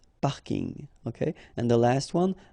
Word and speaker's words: parking: parking as well so I know it's coming from English but still you should pronounce it the French way parking parking okay and the last